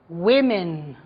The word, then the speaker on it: women: Be careful with the pronunciation. Okay. Woman, women.